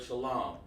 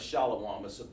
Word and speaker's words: shalom: man so you'll understand how to pronounce the word shalom instead of shallow it's a mispronunciation the reason why you're